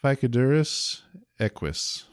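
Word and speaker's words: Phycodurus eques: Ficodurus equis. I'm assuming that's how that's pronounced based on the word equestrian.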